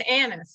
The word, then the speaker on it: Anise: say it correctly well you said it correctly it's anise it's like yeah it's a beautiful name